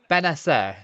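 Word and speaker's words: Bennacer: Benacer, yeah, surely that's how you pronounce it.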